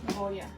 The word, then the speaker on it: Goya: Goya.